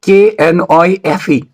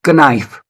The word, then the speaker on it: knife: sound that is why the word k n i fe is not pronounced as knife rather it is pronounced